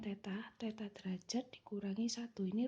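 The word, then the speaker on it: θ: ini ya n = 360° dibagi Teta ini bacanya Teta Teta derajat dikurangi satu ini rumahnya sudah pasti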